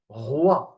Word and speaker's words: roi: It's pronounced wa. Okay, wa, like wa. It's a wa sound. Like in here, we have R, wa, roi, R, wa, roi, R, wa, roi.